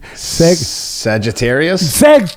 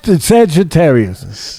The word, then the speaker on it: Sagittarius: How do you pronounce that? Sagittarius. Sagittarius.